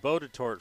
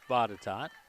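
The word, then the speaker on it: Botetourt: facility up at bottatot and it looks like boated tort folks but it is pronounced bottatot and then there are three fields that are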